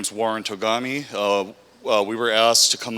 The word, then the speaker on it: Togami: you can ask some questions so um warren tagami we'll be giving a brief overview we also